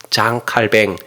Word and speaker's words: 장 칼뱅: 프랑스 발음으로는 장 칼뱅, 까르뱅, 켈빈 이렇게 여러 가지 하는데, 그냥 존 칼빈 영어 발음으로 이제 공통화됐어요.